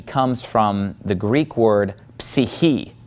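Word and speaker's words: ψυχή: Well, psyche comes from the Greek word psyche, psyche. And they do pronounce that PS at the beginning of the word psyche.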